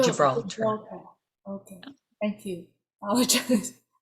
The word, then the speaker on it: Gibraltar: Gibraltar? J, J, Gibraltar.